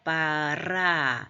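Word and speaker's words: ברא: 하나님이 창조하시니라 god created 첫째 단데 바라 이렇게 알 발음을 바라라 이렇게 혀를 혀뿌리를 조금 떨면서 하는 발음입니다 칼 perfect 이게 이제 문법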